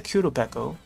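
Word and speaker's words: Qurupeco: crown and there's a description so here's the Kudo I've been trying to remember how it's spelled but yeah uh q u r u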